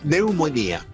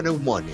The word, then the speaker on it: neumonía: Neumonía, sí, aunque diga el médico neumone. Si el doctor dice neumone, dígale, no sea gringo, amigo. Estamos en Chile. Neumone, algo así, no sé cómo se dice. Sí, no, se escribe con pn, p p n. Claro, con p, claro. Pero se dice neumonía.